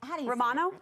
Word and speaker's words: Romano: what um I don't know what we're saying Romano Romano thank sor thank you bro this was like a fun game of charade no one was moving but someone was talking Romano yes yes yes sorry practic sorry I wasn't